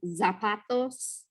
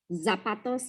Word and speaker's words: zapatos: So Z's sound like S's. They're just S's. Nariz. So like when you want to say shoes and you're saying zapatos, zapatos, you can just say it like an S, right?